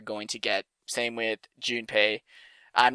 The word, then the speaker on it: Junpei: to that I say I press his name June pay but when I yet that pronunciation her nickname gets a bit weird cousin